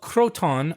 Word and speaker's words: Croton: that was it was called Croton by the Greeks like a crouton yes in 710 BC